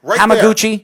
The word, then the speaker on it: Hamaguchi: spelled right in front of you am i pronouncing your name right Dean nope Rama Gucci right there how moving you got it right